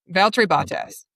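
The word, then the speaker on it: Valtteri Bottas: How do you say Valtry Botas?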